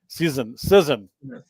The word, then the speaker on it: Cizon: Cizon, like scissors. It's Cizon.